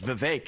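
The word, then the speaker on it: Vivek: open up I say my name's vake it rhymes with cake it ain't about thee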